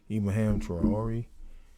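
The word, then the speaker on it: Traoré: Ibrahim Touram, how you pronounce his name? Ibrahim Traore, a recent African leader who's been making noise and trending.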